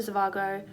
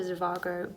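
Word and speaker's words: Zhivago: one I have uh Dr zavago oh I'm saying that wrong someone told me how to say it when I talked about this book and I've completely forgotten I'm sorry that's just dropped into my rain and been lost so it's Dr zivago by fasternak Boris Leonard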